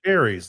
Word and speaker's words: Ares: Ares, like the God of War.